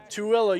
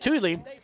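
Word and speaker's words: Tooele: in beautiful tuilla Utah when I first moved to Utah I called it Tully uh because the way it's spelled t o o e l e as I'm from the south and we just don't annunciate so we go out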